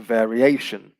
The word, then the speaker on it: variation: you can see that the stress has changed from vary to variation the stress here now is on the penultimate syllable and for the adjective